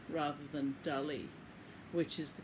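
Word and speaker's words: Dalí: I may at times lapse into calling him Dali because from a very young age when I first saw one of his paintings I've always thought of him as Dali rather than Dali which is the correct pronunciation so forgive me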